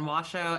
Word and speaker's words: Washo: It's pronounced Yurok and Washo and Surigaonon, and we live in Aquas, Chesne.